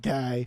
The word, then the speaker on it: Guy: It says Guy Ledouche, but it's pronounced Guy Ledouche.